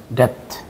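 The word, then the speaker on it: debt: ডাম থাম টম টম ডেথ এখান থেকে এটা সরে যাবে ডেথ এভাবে হবে ডেথ ঠিক আছে এইটা সরে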